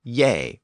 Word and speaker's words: ge: you with the term yay or Y it was actually spelled GE in Old English but we know that that g was often pronounced with a Y sound and that form yay